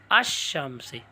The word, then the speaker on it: الشمس: جاتے ہیں، تو یہ ال کا لام ہے نا یہ شین میں ملاؤ، الشمس، یعنی تلفظ کے وقت لام کے بجائے حرف شمسی ہی کا تلفظ ہوتا ہے۔ اب لام کا تلفظ